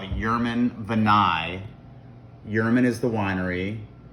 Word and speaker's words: Jermann: its traditions and history thus the name Yurman your Mon German is the pronunciation of this of this